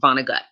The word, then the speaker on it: Vonnegut: have seen his name i was like oh god is this french how do i pronounce it like and it's def it's completely vonnegut all right thanks to